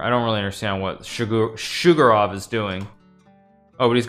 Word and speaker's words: Sjugirov: I mean, it's Sjugirov, I think. Daniel would know better than I would in terms of actually pronouncing it, but yeah, I think it's Sjugirov. It's because SJ, I think it's like Shug, you know, like Shug, what's his name? Shug Knight, right?